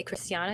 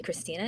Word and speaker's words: Christiana: I mean, it's you say Christiana and you don't say Christina.